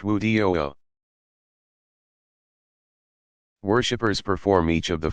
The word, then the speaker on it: wudu: Prior to each act of ritual prayer, Muslims perform a brief purification called wudu, pronounced wudu.